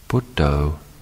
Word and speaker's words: Buddho: We can use this word as a noting method by breaking it into 2 syllables, Bud and Do. On the in-breath, we note Bud, and on the out-breath, Do.